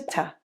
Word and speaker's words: to: In the second line, to reduces to ta, and the first T in didn't it drops to sound like didn't it.